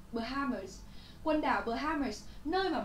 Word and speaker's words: Bahamas: Rồi, cô giáo muốn nhấn mạnh một chút trọng âm của từ này nhé. Bahamas, ok? Bahamas.